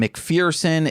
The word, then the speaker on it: McPherson: so so ambitious none of the his name mcferson it was revealed like I I'm I'm glad